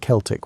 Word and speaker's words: Celtic: The Celtic peoples, and yes, we pronounce it Celtic when talking about these historical folks, not the basketball team pronunciation, occupied a vast swath of Europe, stretching from modern-day Turkey to the Atlantic Ocean.